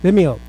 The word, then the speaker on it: Vimeo: the website of email or the muni meow vimeo okay cuz I didn't over this man of